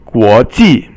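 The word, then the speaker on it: 国际: The next one is second tone, guo, and then ji is fourth tone. Guo ji, and it means international.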